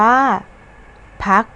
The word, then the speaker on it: พรรค: พรรค พวก อ่าน ว่า พรรค พวก คำ ว่า พรรค มี พยัญชนะ คอควาย ตาม หลัง ร หัน ซึ่ง พยัญชนะ ขอ ควาย อยู่ ใน ตัว สะกด มาตรา กก ดัง นั้น เวลา เรา